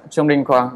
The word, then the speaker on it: Trung Đinh Quang: I'm your host, Gabor Sabo, and with me is Trung Đinh Quang. Hello there. Hi. Hi. Have I pronounced your name properly, or could you? Yeah, it's correct. Trung Đinh Quang.